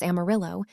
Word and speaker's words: Amarillo: Spanish speakers pronounced it the traditional way, but when the railroad arrived during the 1880s, conductors announcing station stops couldn't pronounce the Spanish double L.